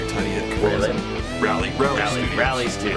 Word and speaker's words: Tudyk: Yeah, it's like Tudyk. It's Tudyk.